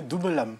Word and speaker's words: Double âme: Je prononce bien Double âme.